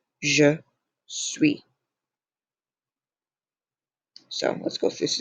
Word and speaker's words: suis: Again, do not pronounce that S. Je suis.